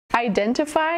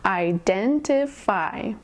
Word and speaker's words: identify: Identify has four syllables. Identify. Emphasis on the second syllable.